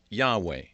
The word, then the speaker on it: Yahweh: in the jerusalem bible this name is written yahweh y-a-h-w-e-h and this probably represents something close to the original pronunciation i'll explain why a